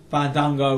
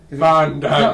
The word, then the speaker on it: Fandango: Fandango wins. So you got to say his name. Fandango.